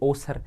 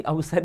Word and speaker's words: अवसर: ठीक है, पढ़ो क्या है, अब आप आदत के अनुसार पढ़ोगे ओसर। ओसर नहीं है, उच्चारण तो इसका भी अवसर ही हो रहा है, उच्चारण तो इसका भी अवसर ही हो रहा है।